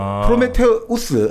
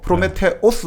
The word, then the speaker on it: 프로메테우스: 이제 보통 이제 프로메테우스 하면 로마식이고 프로메테오스 하면 그리스식으로 발음하는 건데 이 프로메테우스는 먼저 생각하는 사람이에요.